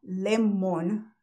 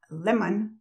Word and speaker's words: lemon: yo tenía el hábito tengo el hábito de decir limón mal Lemon Lemon yo estoy cableada para decir Lemon cuando yo quiero aprender a decirlo correctamente a decir lehman leman ok Cuando para callarme